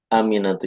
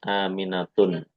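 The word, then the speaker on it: آمنةُ: Nah, ini aminatu ini dia tidak boleh bertanwin sehingga kita membacanya aminatu bukan aminatun.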